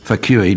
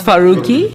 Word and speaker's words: Farooqi: It's so it's Farooqi. Farooqi. Yeah. Thanks. We really fui. Do you have any other questions? It's Farukqi. Sorry. It's Farooqi. She's corrected you twice. Farooqi isn't that hard to pronounce.